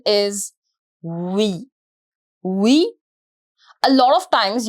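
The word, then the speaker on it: oui: the most important expression we yes we the pronunciation is we we a lot of times you will see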